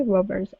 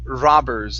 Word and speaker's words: robbers: right let's go to the word robbers instead of rubbers okay give me an a sound here robbers robbers all right very good uh